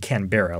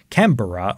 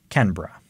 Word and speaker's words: Canberra: melvin melbourne and also it wasn't canberra like you said it's either canberra or canberra so there so it really